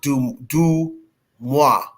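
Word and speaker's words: DeuxMoi: of the way I'm pronouncing it, but it's pronounced Dumois.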